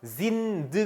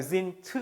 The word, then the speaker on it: sind: 에 해당 하고 , 단어 끝 의 'd' 발음 이 't' 처럼 들리기 때문 에 'z' 로 발음 한다 고 말 했습니다 . ' 신드 ' 가 아니라 ' 신트 ' 입니다 .